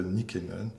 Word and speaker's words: Nykänen: C'est tout à fait juste, non seulement le prix, mais la prononciation finnoise de Nykänen.